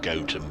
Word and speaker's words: Gotham: the batman is it gotham it's pronounced goatam but spelled the same goat just uh just